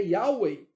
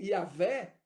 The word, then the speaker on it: Yahweh: sua convicção te levou a acreditar que a pronúncia é Yahweh, ou Yahvé no português, ou você chegou à conclusão que